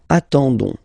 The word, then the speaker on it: attendons: Okay, you don't pronounce the s, so you get only this on sound. Okay, attendons, nous attendons, so we'll make the link between the two, la liaison.